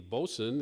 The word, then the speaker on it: boatswain: group this year and he'll be playing the bosun in HMS pinafore coming up for as I like to pronounce it boatswain and the president of um